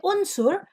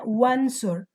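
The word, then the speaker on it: وانصر: So you don't say unsur, rather you say wansur.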